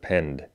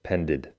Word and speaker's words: penned: a phd yet he doesn't know how to pronounce the word pend as in penned an article he incorrectly pronounces it as pended so today i ask